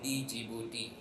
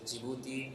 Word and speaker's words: Djibouti: like many of you, even I used to call it Djibouti. So the pronunciation is Djibouti and not Djibouti.